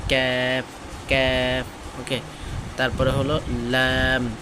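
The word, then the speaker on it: لام: জিহ্বার আগা আর কি, জিহ্বার আগার কিরানা সামনের উপরে দাঁতের মাড়ির সঙ্গে লাগে, ল্যা ল্যা ল্যা ল্যাম ল্যাম, ঠিক আছে। উচ্চারণটা খেয়াল করেন, ল্যাম দাঁতের মাড়ির সাথে ল্যাম।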